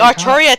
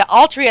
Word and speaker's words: Altria: Like The they Arturia thing, the Altria is apparently supposed to be the official name, but everybody fucking ignores that because it looks nothing like Arthur, unlike Arturia or Arturia. I know. It's weird because you hear in the previous incarnations, you hear it, Arturia, and yet when Granddaughter comes around, no, it's Altria.